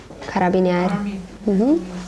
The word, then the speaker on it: carabinieri: Carabiniere, se sì, no, proprio polizia, di armi, Italian Army, police, carabinieri.